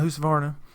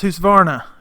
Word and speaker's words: Husqvarna: went to Home Depot and looked at my house of varna and before anybody says it I'd say it's almost every video I try not to but it's pronounced who's varna from were there from this morning there from